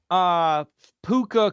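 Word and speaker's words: Pooka: A great P-O-O-K Puka spelled like that.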